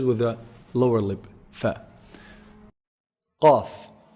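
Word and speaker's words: قاف: Qaf. Qaf is pronounced from the deepest part of the tongue. So the closest to the throat, the farthest from the mouth.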